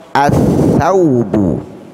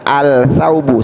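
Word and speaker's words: الثوب: As-saubu, as-saubu, tidak boleh kita baca al-saubu, salah. Kenapa tidak boleh dibaca al? Karena ada huruf syamsiyah, ya, bertemu dengan huruf syamsiyah. Mana huruf syamsiyahnya? Huruf sa. Jadi cara membacanya as-saubu, ya, as-saubu.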